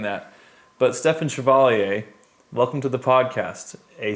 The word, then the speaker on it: Stefen Chevalier: And I'm saying it right. It's Stefen Chevalier. Yep, Stefen Chevalier. Chevalier, yeah, and that's French, right?